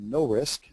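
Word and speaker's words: NOHRSC: hydrologic remote sensing Center which we call no risk uh that's how we pronounce it uh acronym and chanhassan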